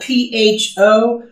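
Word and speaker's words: phở: And we were recently at a Vietnamese restaurant, and they had t-shirts that said forever on it. So that was a reminder of how to pronounce it.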